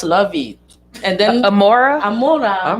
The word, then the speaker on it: Amora: Amora. Amona?